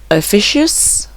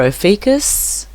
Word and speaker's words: Ophiuchus: of the dragon, aka, now this is pronounced many different ways, Ophiuchus or Ophiuchus, or there's many different ways to say this, as I tried to look up the pronunciation for it.